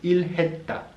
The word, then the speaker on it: 일했다: Y nos quedaría ilhayota, que contraído nos quedaría la forma final ilhetta.